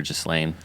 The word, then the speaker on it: Ghislaine: It has an S in it, but I've heard it pronounced with the S or without. So Ghislaine or Ghislaine.